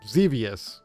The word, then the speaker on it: Xevious: Xevious. Thank you. Yep. That just looks cool. That game is really fun. Really fun port on the NES. I'm playing on 7800, but Xevious on NES is a lot of fun.